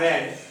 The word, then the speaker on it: read: रेड होता है, लेकिन लिखते हैं हम लोग स्पेल सेम है READ, लेकिन उच्चारण क्या होता है? रेड।